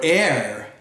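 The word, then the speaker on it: heir: yummy scrumptious pasta dumpling H is for air not like the air we breathe but hei our air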